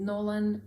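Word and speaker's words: Gnolan: He's called Nolan, and it's with a silent G.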